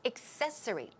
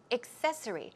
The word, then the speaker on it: accessory: the wrong pronunciation accessory the stress goes right there so it's accessory accessory and then she asks